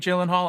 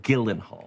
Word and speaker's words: Gyllenhaal: Hi, I'm Jake Gyllenhaal, and I'm hosting SNL this week with Camila Cabello. Gyllenhaal. Your name is pronounced Gyllenhaal. I guarantee you it is not.